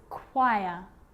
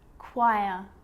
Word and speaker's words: choir: occasions it's not pronounce the H is silent so it's choir choir echo echo with a